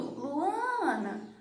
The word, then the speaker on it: Luana: Então percebe que quando eu estou chamando Luana, a sílaba mais forte é o A, Ana.